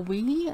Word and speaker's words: Wei: will um it is a resin soul wee i think you would pronounce it w-e-i white and blank and